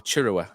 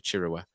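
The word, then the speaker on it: Chirewa: in that first half, and that was Tuanda Chirera, or Chirua, apparently, as it's now. I'm going to go with Oggy's pronunciation of Tuanda Chirua.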